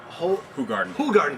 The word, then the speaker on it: Hoegaarden: Only beat out by Hoegaarden, that's how you pronounce it.